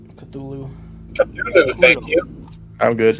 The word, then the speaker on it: Cthulhu: Kalulu. Cthulhu. Cthulhu, thank you. I'm His good. name is pronounced.